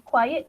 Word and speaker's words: quiet: The other one would be quiet.